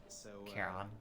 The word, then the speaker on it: Charon: Charon, that's how you pronounce that.